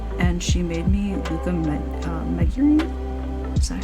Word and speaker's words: Megurine: And then she made me Renge from Oran High School Host Club, and she made me Luca Megurine. Is that how you say it? Yeah, Megurine.